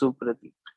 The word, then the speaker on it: Supradeep: You don't need to pronounce the W in there. It's just Supradeep. Yeah. The W is there to confuse you.